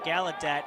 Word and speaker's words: Gallaudet: Gallaudet, excuse me. Again, the right pronunciation here. Gallaudet. When he set the D3